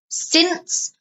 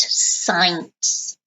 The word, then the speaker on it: since: his car since 2013 notice the pronunciation since not science okay I have had